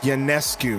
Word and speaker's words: Ionescu: Ionescu is how you say your name.